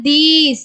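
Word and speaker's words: these: ஸோ இங்க வந்து பாத்தீங்கன்னா தீஸ். இது எப்படி படிப்போம்னா தி இது இ தீஸ். ஸோ இங்க லாஸ்ட்ல வர ஈக்கு வந்து பாத்தீங்கன்னா சைலண்டா வருது.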